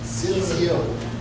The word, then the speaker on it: tzitziot: Tzitziot.